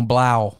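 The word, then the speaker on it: Blough: Oh, Blau.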